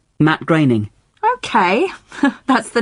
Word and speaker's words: Groening: I always thought it was pronounced Groening. Well, I did too, for a long time. But no, it isn't. It rhymes with raining. Matt Groening.